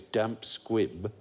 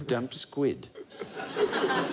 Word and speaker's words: damp squib: survey that found that the most common misquote is mispronouncing the phrase damp squib as damp squid thought yeah it was